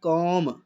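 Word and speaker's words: comb: इसी तरह ये मेरे पास है कॉम, यानी के लॉन्ग वावल ओ और एम, बी यहाँ साइलेंट होगा, कॉम, के और एम लॉन्ग वावल ओ, के, एम लॉन्ग वावल ओ, ठीक है।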